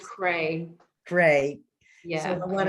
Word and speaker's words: Creagh: c-r-e-a-g-h it is great it's actually pronounced cray gray yeah so i